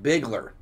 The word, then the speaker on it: Bigler: The E is silent. There you go. We always appreciate that. We hate to mispronounce names, so always let us know if we are not doing it correctly. Bigler.